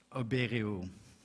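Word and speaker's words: ОБЭРИУ: And that is the correct pronunciation of the group that Harms and Videnski were part of, Oberiu.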